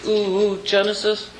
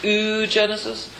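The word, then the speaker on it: oogenesis: Genesis um U Genesis it should really be an o with the two dots like so you pronounce it separately o Genesis not just oo Genesis um and and uh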